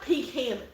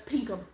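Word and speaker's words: Pinkham: really funny Lydia peum it's not pink ham well it says it's spelled pink ham but it's pum and I also dug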